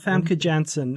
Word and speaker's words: Famke Janssen: that the way you say her name frana famke janssen the perfect me okay yeah there you go